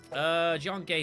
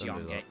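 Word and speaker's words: Jiange: Why do you keep calling it Gay? Rude. Isn't that how it's pronounced? G. John G. I'm thinking like Dice Warriors 4, that's what they called it, and that's where most of my pronunciation of the series comes from. It's Jiangge.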